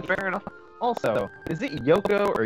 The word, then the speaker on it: Yuko: Also, is it Yoko or Yuko?